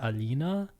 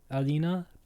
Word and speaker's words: Aline: Um, I'm assuming the name is pronounced Alina in like I would pronounce it that way in German, Alina, but I think French has similar L's and maybe the same way the E would show up.